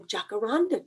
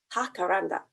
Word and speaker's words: jacaranda: found out what a jacaranda tree is in spanish it's actually pronounced hakaranda this is what the